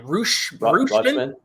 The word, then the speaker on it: Rutschman: The catcher, how do you pronounce his last name? Rutschman.